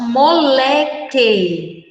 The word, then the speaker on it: moleque: quer q ue Moleque quando nós lemos moleque nós não escutamos o som da vogal um o ok então esse que u aí de moleque que u é um dígrafo bom então nem um